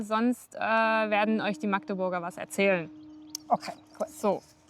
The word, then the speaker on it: Magdeburg: Und ja, und so jetzt auf Hochdeutsch würde man dann einfach Magdeburg sagen. Auf jeden Fall muss das A kurz ausgesprochen werden und darf nicht lang ausgesprochen werden.